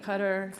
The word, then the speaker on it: Qatar: and Ecuador the system I don't know why the pronunciation is so strange and so different sometimes but I think Qatar flows better so you can choose what you prefer 12 people on the